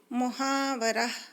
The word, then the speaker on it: محاورہ: محنت پوشیدہ ہوتی ہے۔ محاورہ عربی زبان کا لفظ ہے جس کے صحیح تلفظ محاورہ ہے اور مفاعلہ کے وزن پر ہے، جس کا بنیادی ماخذ